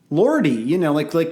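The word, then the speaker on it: Lordi: Lordy, like Guar. Oh, okay. I thought you were like mispronouncing Lord.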